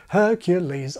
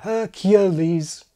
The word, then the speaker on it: Hercules: Hercules, Aladdin. But swap those names around and the result is a train wreck. Aladdin, Hercules. Impossible. As the old joke goes, it's putting the emphasis on the wrong syllable.